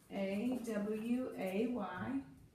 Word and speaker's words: away: Okay, so you accent the second syllable. That makes your first syllable, it's not really open because it's half long. It's not in the accent.